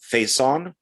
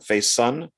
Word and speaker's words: Faison: also uh donald uh faison faison i think is how you say his name face son um who was on